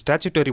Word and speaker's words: statutory: Next ஸ்டாச்சுட்டரி பாடினா என்னென்னு பார்க்கலாம். நிறைய பேர் வந்து இந்த ஸ்டேட்யூட்டரின்னு ப்ரொனவுன்ஸ் பண்ணுவாங்க, ஸ்டாச்சுட்டரின்னு ப்ரொனவுன்ஸ் பண்ணுவாங்க. சரி, எப்படி ப்ரொனவுன்ஸ் பண்ணாலும் ரெண்டு ஒன்று தான்.